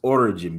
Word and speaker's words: Orijin: So, Sip Police thought I said origin beer. No, it's origin beer. Origin beer. Let me spell it for y'all.